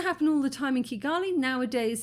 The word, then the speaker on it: Kigali: Because sometimes you will hear people say Chigali. It's quite rare. It's usually a hard K, Kigali, but Chigali, you've heard that a lot.